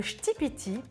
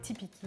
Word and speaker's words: Ktipiti: Le shtipiti. Je viens d'apprendre la prononciation, avant je disais tipiki ou tipiki, enfin bref.